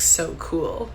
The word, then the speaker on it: Sokol: And then he also likes to remind us that his name, if we say it correctly, sounds like so cool.